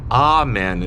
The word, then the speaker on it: Amen: So Amen is how I pronounce it, because you have God, Brahma, Ra, Allah, all of these big spiritual entities seem to have the vowel ah attached to it because it's a very powerful vowel.